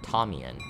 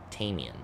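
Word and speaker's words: Tamien: More importantly, the pronunciation of Tamian is up for debate, as VTA announcements announce it as Tamian, whereas Caltrain announcements list it as Tamian.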